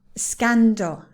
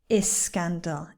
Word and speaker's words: scandal: Scandal, Spanish, scared, not escandal, Spanish, scared. No, there is no E. The S goes directly into the next syllable, okay?